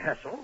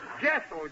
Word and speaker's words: Jessel: Well, this has all been very interesting, Mr. Hessel. Hessel? Jessel, J.